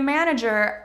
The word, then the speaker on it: manager: jus it's not your it's a Harder G not hard as in good but a little bit harder than many of you are saying this manager math magician